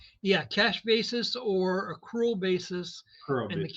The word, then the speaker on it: accrual: when you're talking about bookkeeping, you're talking about a cured. Is that how you pronounce it? System or cash basis. That's the two different main ones. Is that right? Yeah, cash basis or accrual basis.